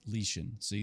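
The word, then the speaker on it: Lixin: and his family King lixen makes a decision no one should ever contemplate it's pronounced lean see this is why I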